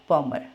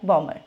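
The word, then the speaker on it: bomber: में आ गया तो एक्सेप्ट थ्री वर्ड्स जो हैं उनके अलावा हमने सब में एम और बी को प्रोनाउंस करना है और वो थ्री वर्ड्स कौन से हैं प्लमर क्लाइम बमर ठीक है पीसीबी आप इसको ऐसे ही याद रख लो प्लमर क्लाइंबर बमर तो अब हमारी क्लास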